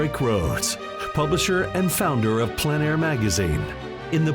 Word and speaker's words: plein air: This is the Plein Air Podcast with Rhoads, publisher and founder of Plein Air Magazine. In the Plein Air Podcast, we cover the world of outdoor painting.